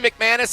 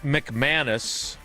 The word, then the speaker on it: McManus: Brandon McManus and Evan McPherson, more or less than 3.5 combined made field goals.